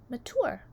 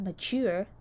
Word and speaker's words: mature: By the way, if you want to be mature, you can say it like Gaty, my great-aunt Tess, mature, which rhymes with door. Not mature, that rhymes with sewer.